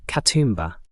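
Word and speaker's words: Katoomba: Katumba. Put the stress on that middle syllable and relax the final vowel.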